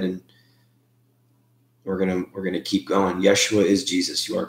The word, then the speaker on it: Yeshua: Well, it's, the J is silent. It's Y in Hebrew, so it's Yeshua.